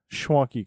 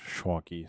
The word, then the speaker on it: Schwanke: at me went, "Huh, Schwanky Kong." And that's where I got it from. That's where I got it from. So he actually said Schwanky Kong, but the correct the correct Germanic pronunciation is Schwanky.